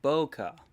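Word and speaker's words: bokeh: see you okay Boca Boca Boca I can finally pronounce it properly okay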